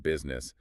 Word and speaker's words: business: In fact, the U comes before the I, and the I is silent.